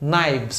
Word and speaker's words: knives: Lembrando que toda vez que você vê KN em inglês, jamais você pronuncia o K. Knife é a faca, plural, knives. A mesma coisa, se eu fosse falar knives, o FS naturalmente vai virar VS.